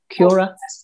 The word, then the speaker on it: Quora: Is that how you pronounce it? Quora?